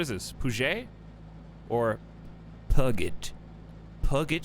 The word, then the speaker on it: Puget: Puget Sound.